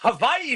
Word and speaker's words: Hawaii: Havaii is underrated. Hawaii against UC Irvine Saturday night and Hawaii is how the locals say it. So Joshy before you say anything that's how they say it is underrated cultured.